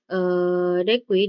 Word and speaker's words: deque: Nah, selanjutnya ada antrian berujung ganda, di mana dekui diucapkan dek, atau antrian berujung ganda adalah struktur data mirip antrian yang mendukung penyisipan dan penghapusan di bagian depan dan belakang antrian.